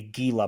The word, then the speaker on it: Gila: The Vegas mascot, I said, he's that yellow reptile, a Gila monster. Yeah. Okay, dude. Yeah, so I got isn't this. That not how you pronounce it? Yeah. So it's Gila. A Gila monster.